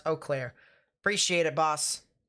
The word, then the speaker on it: Eau Claire: storm near kenyon is definitely something to watch pronounce eau claire appreciate it boss eau claire you can tell i am not from these